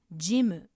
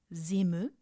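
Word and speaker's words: ジム: In Japanese, it's pronounced Jimu with a J sound, not zimu.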